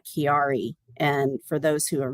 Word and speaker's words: Chiari: I have a rare condition health condition called Chiari and for those who are not familiar with it it's spelled c-h-i-a-r-i Chiari malformation and it didn't um